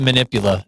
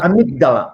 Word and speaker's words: amygdala: I was going to say, what's the manipula? Is that how you pronounce it? The manipula. Amydala.